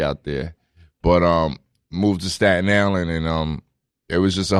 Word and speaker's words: Staten Island: But moved to Staten Island, and it was just a whole different world for me.